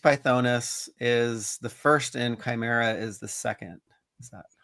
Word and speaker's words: Chimera: Did I keep mis pronouncing the name? Chamara. Chimera.